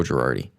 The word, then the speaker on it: Girardi: Girardo? Or Girardi? Girardi. Okay. I stand by. You can't even pronounce his name right.